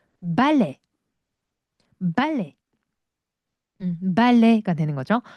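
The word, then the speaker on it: ballet: 브 브 브레 발레음 발레가 되는 거죠. 발레는 프랑스로 발레이고요. 발레의 용어들도 다 프랑스죠. 마지막에 티바음은 하지 않습니다.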